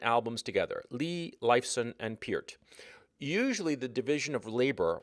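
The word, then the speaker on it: Neil Peart: named Neil Pier uh for years I thought that his name was pronounced per but no from the man himself it was Pier even though it's spelled p e a r t anyway in 1975 he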